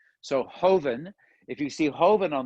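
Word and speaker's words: joven: in a second um hoeven it's it's spelled j-o-v-e-n but in spain they don't pronounce j as a j they pronounce the j as an h so hoeven if you see hoven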